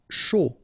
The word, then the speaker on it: chaud: Chaud. Final D not pronounced.